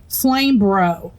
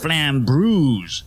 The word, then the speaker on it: Flambreuse: Hey, Flame Bro. It was supposed to be pronounced flambreuse, like flambe. Yeah.